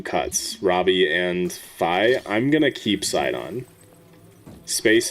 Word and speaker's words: Fi: Still hate the Fi isn't pronounced Fee.